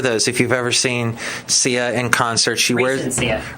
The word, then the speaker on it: Sia: hey, just a reminder, the way to say Sia's name is Sia. He spells it out phonetically. Because I guess some people were saying Saya.